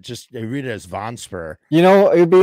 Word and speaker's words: Vonesper: I always say Vonesper. It's Vonesper. I mean, it's a made up name, so it's really no way to say it.